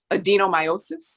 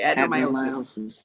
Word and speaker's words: adenomyosis: her noticed that she had it is called adenomyosis. Am I pronouncing that correctly? Adenomyosis. Thank you. Okay, adenomyosis.